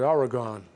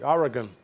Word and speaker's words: Oregon: chided for our English I've always called it Oregon but it's Oregon it's like it's GU and when they pronounce